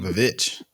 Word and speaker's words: The VVitch: It's spelled with two V's. I've seen it, but I never knew. I like it. The Witch.